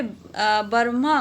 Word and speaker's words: ब्रह्मा: और ब्रह्मा मतलब, ब्रह्म का मतलब क्या होता है, यहाँ पे ब्रह्मा मतलब लिखने का इसमें ढंग अलग है, पर जो हम उच्चारण करेंगे वो ब्रह्मा है।